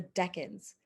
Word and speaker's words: Deccan: of southern india the deccans so deccan is an anglicized pronunciation of the indian word for south dakin or duction so that's how the